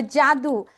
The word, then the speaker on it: Jadu: say Jadu but actually my name is not Jadu you know ja jadu you know I think